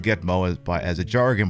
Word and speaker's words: GTMO: guantanamo bear nsgb also named gt meal gtmo pronounced gitmo as by as a jargon by the u.s